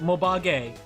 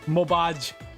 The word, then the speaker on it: Mobage: It's pronounced Mobage, not Mobaj.